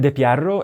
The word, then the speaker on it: De Pierro: So it's uh de Pierro if you use Italian pronunciation, but in America I would say de Piro.